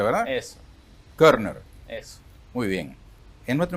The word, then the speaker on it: Körner: Así se pronuncia, ¿verdad? Eso. Körner.